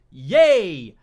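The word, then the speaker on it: Ye: point of my tweets my name is yay pronounced yay I am the king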